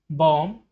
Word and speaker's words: bomb: Next, in the words given below, the letter B is silent when it appears with M. Warm, Tom, bomb, climb, calm.